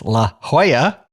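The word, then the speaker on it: La Jolla: of San Diego California well it's La Hoya which is spelled the same as H but unfortunately uses an AA any who today we're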